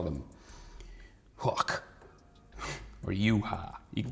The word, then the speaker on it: Yhwach: today we have a Bleach character we have yuha you walk you you are Buck there's lots of different ways to pronounce it his name I don't know how